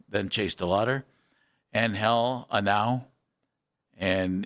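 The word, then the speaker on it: Genao: Then Chase Delotter and Hell Anow and it's G N A Oo, but his name is Anow. Uh, it's how you pronounce it.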